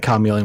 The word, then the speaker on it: chameleon: I was saying chameleon with a hard C. I'm pretty sure it's a hard C. I've always said it with a hard C, and I will never be persuaded otherwise, as long as I live.